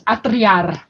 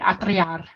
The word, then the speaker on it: atriar: It means I'm ready, and it's atriar. That's how you say it, atriar.